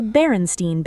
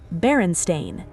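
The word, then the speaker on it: Berenstain: It says baron stain, s t a i n, pronounced stain, like a coffee stain.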